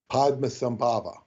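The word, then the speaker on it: Padmasambhava: but I don't know and yes the correct pronunciation is Padma sambava thank you left many termas and of course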